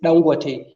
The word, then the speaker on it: Dangote: It's true that Dangote, the pronunciation of the name is Dangote, because the guy who is named after, or whose name is linked to the refinery, is from Kano State.